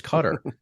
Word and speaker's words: Qatar: have an issue their their country's name is cutter and I can pronounce that in English I don't have any